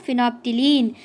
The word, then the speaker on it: phenolphthalein: can copy it okay then completed phenophthylene we pronounce it as phenophthylene it is colorless now this phenopterine now now